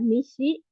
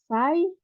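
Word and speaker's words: 西: Hai, untuk cara bacanya ini ada nishi, terus ada sai, atau bisa juga zai, dan ada juga sei. Ya, jadi ada nishi, sai, zai, dan sei.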